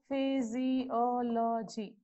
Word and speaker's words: physiology: Physiology. Okay. From back 3. Again it comes on before O only.